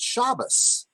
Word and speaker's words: Shabbos: at people say good Shabbos with an S at the end is a very common some people say good good Shabbos some say shabbat shalom it all depends upon Ashkenazi or Sephardic but what we're learning